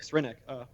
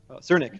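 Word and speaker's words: Srnicek: There's the philosopher Nick Cernick, Cernick, I believe is how it's pronounced, wrote this book called Platform Capitalism, and how essentially the internet became re-centralized into all these online companies.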